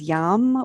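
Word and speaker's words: yam: the seed syllable sound is yum y-a-m take a deep inhale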